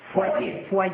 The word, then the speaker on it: foyer: Foyer. Sí, se pronuncia foyer. Foyer. ¿Foyer? Es una palabra francesa, sí.